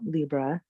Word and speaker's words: Libra: I was looking up some things about Libra, and I found an article that said that actually, if we really broke down the correct pronunciation of Libra, it would be Libra, like a library or a Yes, librarian.